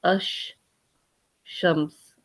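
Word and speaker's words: الشمس: And when you read it, you actually read it as ash shams.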